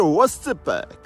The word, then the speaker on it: oscypek: Wymawianie samogłoski o jako ły, szczególnie na początku wyrazu. Temu na przykład gada się łoscypek. H wymawiane jako k.